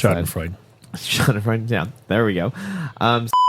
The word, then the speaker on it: Schadenfreude: Which was Schadenfreude or Schadenfood. I don't know how to pronounce that. Schadenfreude.